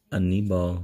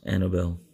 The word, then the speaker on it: Anibal Sanchez: Anibal Sanchez. I think that's how you pronounce his name. Anibal. Because Annabelle, of course, that's a girl's name.